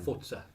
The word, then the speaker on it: Forza: Yeah, no, because they don't know how to pronounce things in Italian.